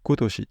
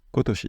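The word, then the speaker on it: 今年: donne cette année et ça se prononce attention pas nen ici ça va se prononcer Toshi donc c'est kotoshi kotoshi kotoshi igilis et igilis c'est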